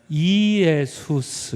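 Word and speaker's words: Ἰησοῦς: 어떻게 써 있냐면 이예수스 이렇게 써 있습니다. 이예수. 빨리 읽어서 예수 이렇게 읽는 겁니다.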